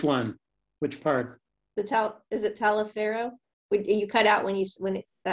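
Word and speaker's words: Taliaferro: Pronounced Talaferro. I don't know if that's the way he said it, but I think that's kind of a Southern pronunciation of that name.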